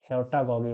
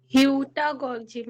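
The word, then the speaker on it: heutagogy: इसको मैं पढ़ ही नहीं पाता, पता है, मैं इसको ह्योटा-गॉगी मॉडल ही बोलता हूँ। तो इसका सही प्रोनाउंसिएशन कर सकता है क्या? तो क्या पढ़ेंगे हम लोग? ह्यूटागोजी मॉडल। इसको ह्योटा-गॉजी मॉडल कहते हैं, जैसा हमें विदिशा ने बताया।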